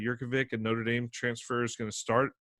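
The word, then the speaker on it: Jurkovec: I'm expecting, based on what I'm seeing on the depth chart and some research I did, quarterback Phil Yurkovich, I believe is how you pronounce that, Yurkovich, a Notre Dame transfer, is going to start.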